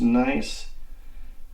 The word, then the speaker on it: gneiss: I believe it is spelled Gneiss, but it's pronounced nice.